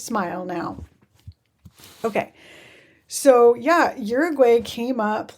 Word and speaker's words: Uruguay: going to keep saying Uruguay even though I know that's not how you pronounce it. It's It's pronounced in Spanish, the U makes it ooh sound. So, Uruguay.